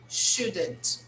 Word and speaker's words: should: can use should or shouldn't okay it's very important to notice the pronunciation of the word here okay even though we write with we spell with o and you we say okay should should should yes let